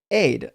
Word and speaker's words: Ides: Brief says, "Today is pronounced aid."